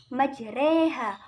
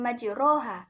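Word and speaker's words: مجراها: ke harokat kasroh jadi cara bacanya adalah majreha bukan majroha ngelihat dilanjutkan ada hukum bacaan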